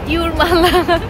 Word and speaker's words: Jūrmala: তো আমরা কাছে আছে ইউরমালা। ও ইউরমালা, হ্যাঁ, এখানে তো যে উচ্চারণ ওয়াই এর হয় আর কি।